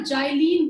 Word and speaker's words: xylene: पे 2 CH3 हो तो उसको हम ना जाइलीन बोलते हैं कॉमन नेम में, जाइलीन, XYLENE, जाइलीन।